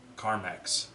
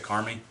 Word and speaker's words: CarMax: is that how do you how do you pronounce that CarMax okay why'd you think it said Carmi no it kind of looks like Karma I